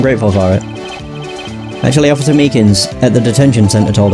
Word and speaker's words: Meekins: for it actually officer Meekins at the detention center told us now that poor little doggie poor guy kept getting his name wrong and calling him meekly he taught us something